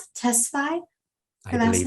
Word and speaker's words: Tesfaye: Michael, do I pronounce it Tesfaye?